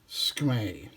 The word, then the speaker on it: SKMEI: Some people say SKMEI, but I don't see a vowel between the S and the K, so I'm not going to make that a syllable. I'm just going to say SKMEI.